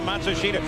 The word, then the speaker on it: Matsushita: They say the pronunciation is now Matsushita.